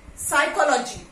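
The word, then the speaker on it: psychology: क्या रसीद रिसीप्ट रिसीप्ट नो रिसीट okay P silent over here रिसीट साइकोलॉजी when P is used over here this P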